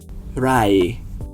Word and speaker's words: ไหร่: เท่าไหร่ครับ Notice that second word. That rising sound at the end is doing the same job as a question mark.